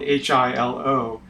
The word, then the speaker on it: Hilo: Hilo Queen is named for Hilo Hawaii Hilo is spelled h i l o but it is pronounced Hilo the queen project